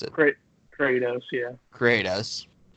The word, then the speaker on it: Kratos: Versus the 2 seed from God of War, Kratos, however you fucking pronounce it. Kratos, yeah.